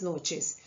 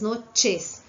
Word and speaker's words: noches: E para finalizar, repassando novamente, aqui nós temos buenas noches. Tem que ser bem pronunciado essa letra e temos que tomar cuidado com C e H, com som de che.